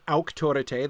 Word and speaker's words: autorité: Major sort of diphthongs that we do have, the AU in autorité, that's ow, just like AU's in Elvish, right? Easy to remember, autorité.